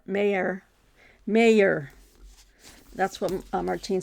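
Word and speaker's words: Meagher: immortal Irishman that's Thomas I thought it was meager it's Mayer mayor mayor that's what Martine said and I think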